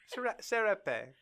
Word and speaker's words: serape: A serap. Thank you. I don't know how you pronounce it. I read it in this book a couple times. Serap. Okay, great. Serape.